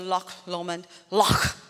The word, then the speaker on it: Loch Lomond: You go up to Loch Lomond, That's how they say it.